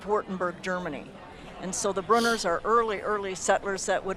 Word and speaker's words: Brunner: Or Brunner, how is it pronounced? Brunner.